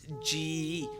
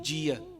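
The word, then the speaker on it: ਜੀਅ: So in the Taksali way of thinking in that school of education, we pronounce every letter that we see. So in this instance, we would say Jeea.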